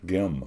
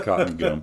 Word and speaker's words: Cottengim: Gim, Gim. Yeah, Gim, hard G. I knew that, and it comes out a little bit maybe like Eli Whitney or something, but it's Gim. It is cotton gim.